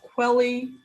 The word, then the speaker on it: Kweli: Well, it's called Quelly TV, and it's spelled KWELI.TV.